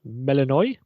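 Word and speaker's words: Melinoë: and you play as a new Heron called melanoi that's how you pronounce it was a princess princess of the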